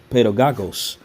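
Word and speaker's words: παιδαγωγός: OK, and as that word is in the Greek, again, it's pronounced pedagogos.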